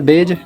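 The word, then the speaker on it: bridge: अगर डी किसी शब्द में जी से पहले आ रहा है तो डी को क्या कर दो? इसमें डी आ रहा जी से पहले तो साइलेंट का तो डी को हटा दो। सॉरी डी को हटाना।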